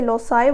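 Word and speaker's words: loci: तो अब आप इसकी प्रोनाउंसिएशन कोई भी कर सकते हैं, कुछ लोग इसे लोसाई बोलते हैं, कुछ लोकाई बोलते हैं।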